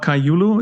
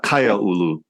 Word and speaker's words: Kaiaulu: This Malama Kaiaulu, is that how you pronounce it? Yeah, Kaiaulu.